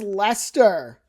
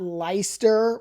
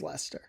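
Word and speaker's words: Leicester: This one is Lester. It's not Lyster or Liechester. I don't know if I've heard Lchester, but it's Lester. So, it's Lester.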